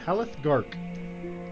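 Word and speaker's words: Halleth Garke: You said it once, but I missed it, so I don't know how to spell it. His name is... Haleth Gark. H-A-L-L-E-T-H G-A-R-K-E. Haleth Gark.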